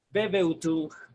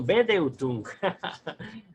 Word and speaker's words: Bedeutung: Su significado del alemán Bebeutung, estoy latinizando el alemán, así no se pronuncia, Bebeutung, todo junto, y con las dos B grandes, B labiales, Bebeutung. No, Bedeutung, B de beso, D de dedo, Bedeutung, que quiere decir también intencionalidad.